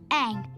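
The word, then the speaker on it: Aang: so what's your name eng that rhymes with mang and you've got some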